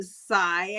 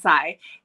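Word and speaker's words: Xi: This one is about Zai. I think it's how you say it. It's X-I. So I think it's Zai.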